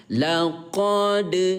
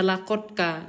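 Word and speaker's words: لقد: Tidak boleh ayah bunda melafazkan dengan kata laqadka, itu tidak boleh. Ya, melainkan laqadka, karena qalqalah artinya pantul, maka dal sukun pantulkan cara bacanya. Ya, laqad gitu. Jangan dibaca laqadka, nanti salah gitu ya.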